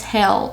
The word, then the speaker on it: Hel: and the daughter of Loki her name is hell and it's spelled h-e-l she is said to be the